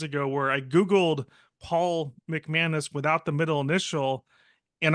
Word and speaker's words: McManus: myself I say my name as Paul mcmanis and exactly for the reason or for one